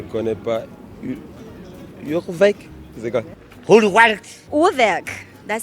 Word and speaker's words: Urwerk: Okay, with this one, we do hear people struggling a little bit with it, and understandably so, but let's go. Uhrwerk, but let's be flexible about it.